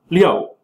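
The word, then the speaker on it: 六: so then oh uh the number six is pronounced Leo which is similar to Leo which means to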